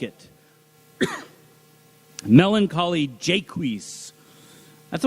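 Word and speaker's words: Jaques: In Shakespeare's as you like it, melancholy jaquis, that's I always pronounce that name like I guess it looks like Jacques, but there's no well there's no U. Jquis, that's how Dr. Senior pronounced it.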